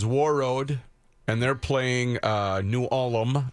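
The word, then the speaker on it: New Ulm: and they're playing uh new Alum as you say new Alum bre three syllables number two seed is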